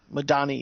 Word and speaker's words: Madani: How would you pronounce her name? Dinah Madani. Madani, yeah.